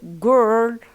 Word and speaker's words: girl: And when the word such as girl or girl, because it has this we have an I, as you see I like that, Girl.